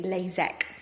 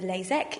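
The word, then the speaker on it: LASEK: types of laser treatment first of all is lasic which is spelled with an ik and the other one sounds exactly the same but it's spelled with a EK lasac and the difference between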